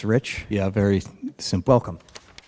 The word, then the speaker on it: Rich: So, it's pronounced Rich.